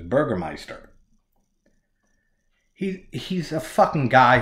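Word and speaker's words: Bürgermeister: Burger Master Burgermeister the the subtitles say fucking Burger Master but when they the way they pronounce it is Burgermeister he's he's a fucking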